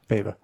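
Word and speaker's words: Paiva: Pava.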